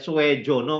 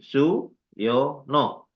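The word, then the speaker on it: Soejono: Itu kan ejaan lama. J itu Y, OE itu U kan tidak tadi baca Swe Jono kan enggak tadi ya. Kalau J itu DJ tulisan yang lama. Jadi bacanya itu su yo no ya.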